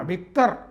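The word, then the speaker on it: Viktor: വിക്ടർ Orban വിക്ടർ Orban ആ വിക്ടർ എന്നാണ് ഉച്ചാരണം അതുകൊണ്ടാണ് ഞാൻ അങ്ങനെ പറയുന്നത് വിക്ടർ ഓർബൻ പറഞ്ഞത് ഈ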